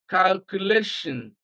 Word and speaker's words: calculation: So we place stress on the second syllable from the end of the word.